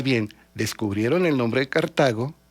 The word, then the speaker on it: Cartago: Era una obsesión para los romanos Cartago, que así se pronuncia, no es Cartago, es Cartago.